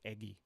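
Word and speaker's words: Eguy: twice Iggy this so This guy's name is pronounced eggy yeah eggy Rosario so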